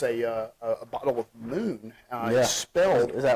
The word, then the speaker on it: MXXN: do you pronounce it Moon Mo so remember the days of uh prohibition when they exed out O's yeah so it's Moon uh you pronounce it